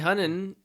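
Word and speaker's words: Hunnam: Charlie Hunnan.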